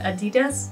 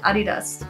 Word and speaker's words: Adidas: I chose is Adidas how do English people pronounce it Adidas whatever it's a German brand I call it Adidas and how could we